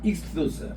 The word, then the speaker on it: ΙΧΘΥΣ: 그리 물고기를 그리면 따라합시다 익수스 익수스 익스 소스 예이 발음이 익스고 소스입니다 따랐다 익소스 이게 물고기 이거를 그러면